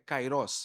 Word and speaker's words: kairós: aquí es traducido para cairos este ese tiempo que está acá se traduce de la palabra cairos o cairó o cairó sí la pronuncia correta es cairó la pronunciación correcta es cairó no grieg en el